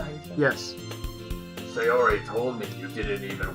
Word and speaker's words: Sayori: Sayori told me you didn't even want to join any clubs this year.